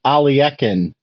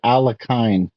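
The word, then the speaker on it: Alekhine: play the game alakin then I was listening to Hikaru one day and he kept saying alien I don't know who where that pronunciation came from I actually went to Google and how it do um text to speech like to tell me how you're supposed to pronounce it and it said you're supposed to pronounce it alakin so that's what I'm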